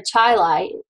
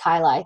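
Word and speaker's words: chyli: lymphatic duct the CNA kyi or sister a chaii it's pronounced kyai technically uh is an expanded chamber at the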